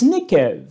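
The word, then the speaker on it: נֶקֶב: Or nakav, qui signifie être troué, lorsqu'on le prononce nekev, hein, cette même racine va désigner le trou, le creux, le réceptacle, mais aussi, et cela est très intéressant, l'espace intérieur.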